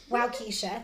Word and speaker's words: Waukesha: Waukesha, Wisconsin. Waukesha.